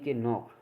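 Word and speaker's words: knock: अब के साइलेंट कहाँ होता है, एन से पहले आया के साइलेंट होता है।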